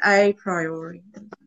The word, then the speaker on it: a priori: Like I don't it's know if it's just, not even pronounced like a priori, like I think it's a priori.